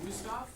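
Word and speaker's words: Wüsthof: you're gonna see are wusthoff technically if you want to be correct in german they pronounce their w is like a v stop but who's not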